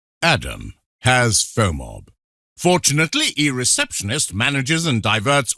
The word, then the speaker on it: FOMOB: Pronounced FOMOB.